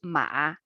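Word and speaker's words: 马: this character one two uh pronunciation is ma ma means horse yeah so simplify traditional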